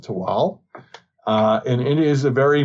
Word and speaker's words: Tehuatl: one of those islands it is called tewal it's spelled t-e-h-u-a-t-l but we're going to go with the nawal pronunciation and call it to all and it is a